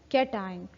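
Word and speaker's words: cation: इसकी प्रोनाउंसिएशन देख लें, ION की प्रोनाउंसिएशन तो आयन ही होती है। ठीक है। और AN की हो जाएगी एन और CAT कैट। ठीक है। सो प्रोनाउंसिएशन will be एनायन एंड कैटायन।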